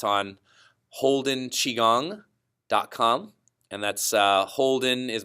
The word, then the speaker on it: Qigong: day it's on holden chi gong calm and that's holden is my last name hol d en Qigong has spelled qi gon G chi gong so at least you